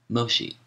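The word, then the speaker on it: Mōshi: Moshi footnote Moshi the Japanese pronunciation of the name of the Chinese philosopher mensi whom Europeans call mencius end of footnote says benevolence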